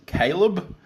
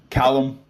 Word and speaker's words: Callum Robson: name is it is it Caleb no Callum Callum Robson Cal Robo the Aussie Underground Legend